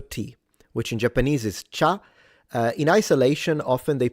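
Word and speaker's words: 茶: The Chinese in Mandarin pronounce it cha second tone.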